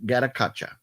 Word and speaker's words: Gatotkaca: looks like um but apparently it is pronounced legend of gadakacha the legend of gatacatra not the just Legend of gattacacha uh from my good